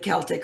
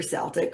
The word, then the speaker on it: Celtic: And it has been, like, I was invited into learning more about whether you pronounce it Celtic or Celtic, right? Depends on where you are in the world.